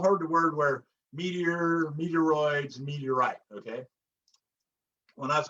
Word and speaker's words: meteoroid: atmosphere and then the meteoroid rhymes with asteroid so as they're floating